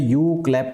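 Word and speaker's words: Umklapp: known as known as यू क्लप process am silent रहता है इसको बोलते हैं यू क्लप प्रोसेस यू क्लप प्रोसेस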